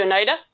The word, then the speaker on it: Oneida: So, how do you say the Oneida that's spelled like China? The Oneida? Is that how you say it? Yeah.